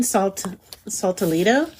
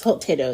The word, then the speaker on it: saltado: It is their chicken saltolito. And their chicken saltado, I'm sorry, it's saltado, it's how you pronounce it.